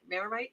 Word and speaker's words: Marmite: Just finished my cheese and Marmite. Did I say it right? Yeah. Crackers. Marmite, yes. Good.